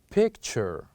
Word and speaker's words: picture: the words that ends with these letters is picture picture picture so these four letters ends with this word we pronounce them as picture picture now let's listen